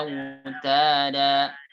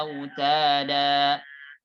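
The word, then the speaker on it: أَوْتَادًا: Wal jibala autada. Surat An-Naba. Di sini huruf berharakat fathatain, setelahnya alif dan dibaca waqaf berhenti. Maka dibaca panjang 2 harakat. Wal jibala autada. Tidak boleh pendek. Wal jibala autada.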